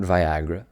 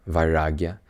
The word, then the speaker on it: Vairagya: It's Vairagya. And again, not Viagra, Vairagya, roughly translating to detachment, a Sanskrit word.